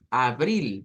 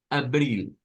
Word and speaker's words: abril: Ese se parece más al español, pero no es abril, no es con A, sí, A, sino que es la lengua un poquito metida hacia el centro, abril.